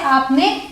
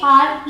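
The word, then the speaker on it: are: अब अगला देखते हैं ए आर ई इसे हम प्रोनाउंस करते हैं आ या फिर आर फर्क क्या है वही ब्रिटिश और अमेरिकन का यूजुअली ब्रिटिश इंग्लिश में र प्रोनाउंस नहीं किया जाता तो यहां पे आर नहीं बोलेंगे यहां पे आर साइलेंट होगा और आ को थोड़ा खींच के बोलेंगे आ ठीक है और वही अमेरिकन इंग्लिश में र प्रॉपर्ली प्रोनाउंस किया जाता है तो क्या बोलेंगे आर ठीक है इसका मतलब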